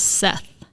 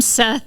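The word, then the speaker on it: שת: So there's the characters on it, but it's actually pronounced, in Hebrew it's pronounced Set.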